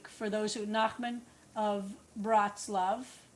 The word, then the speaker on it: Bratslav: But sometimes you'll see it Breslau or Breslav. There are a few different ways that the name of the town in western Ukraine, Bratslav is in western Ukraine, is pronounced.